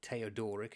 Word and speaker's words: Theodoric: a close advisor to King theodoric or theodoric if you want to use the Roman pronunciation and the Roman Empire